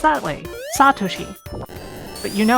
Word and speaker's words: Satoshi: you in general in Japanese there tends to be very strong emphasis on the first and sometimes second syllables but for a lot